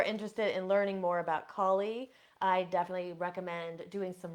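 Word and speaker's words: Kali: we talking about so this first one is collie and her name is spelled k a l i some people call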